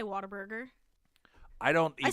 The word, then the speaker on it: Whataburger: chain recently suggested on Twitter that Whataburger is pronounced What er Burger w-a-t-e-r b-r-r-g-r-r-r a pronunciation embraced by many Texans